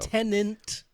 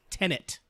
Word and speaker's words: Tenet: Yeah, it is not Tenant. It is Tenet.